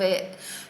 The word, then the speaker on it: hay: little word is I so it's pronounced I but it is spelt H a Y so what does it